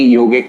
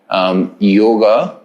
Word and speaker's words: yoga: just for universal acceptability and you know uh pronunciation nada is any yogic word any indian thing is having the a syllable in the end which means that yoga is idly and truly meant to be pronounced